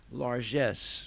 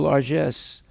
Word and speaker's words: largesse: krishna out of his largesse which is a beautiful word it's a french word but it it's it came into the english language and it's pronounced in the french way uh l-a-r-g-e-s-sc you can